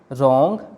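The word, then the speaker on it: wrong: इसी तरह right, रॉन्ग, road, wrapper, इन सभी वर्ड्स में WR साथ में है, इसलिए W साइलेंट रहेगा, W की कोई साउंड नहीं आएगी।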